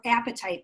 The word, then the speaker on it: apatite: Well, everyone, see now, and I want to say before I tell you about this, this stone is called apatite, which is kind of funny because it's like your appetite for.